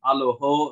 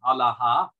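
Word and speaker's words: ܐܠܗܐ: for for example um the the O vowel at the end would have been pronounced ah so instead of aloho it would have been Allah um in an older Syriac dialect um and the the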